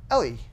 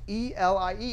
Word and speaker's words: Elie: Elie. Bingo. Why wouldn't anyone know that? It's spelled E-L-I-E. Of course, it's Elie. You probably would have said Eli.